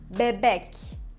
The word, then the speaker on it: bebek: Or bebek. Bebek. It means baby. So we have the bebek. Bek has the second syllable, and we have the emphasize on it.